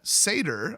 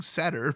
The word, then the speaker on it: satyr: Apparently you pronounce that satyr. I kept saying satyr, but she's a satyr, and she has haste,